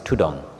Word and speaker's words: tudong: So dhutanga became tudong. The Thai word, the derivation or the way it's pronounced is tudong.